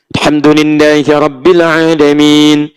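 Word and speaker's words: الحمد لله رب العالمين: Alhamdulillahi rabbil alamin. Ujungnya a, tapi in.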